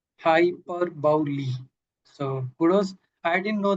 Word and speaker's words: hyperbole: So how do you think how it is pronounced right? Hyperbowl. Hyperbi hyperbull quick check the chat box as well.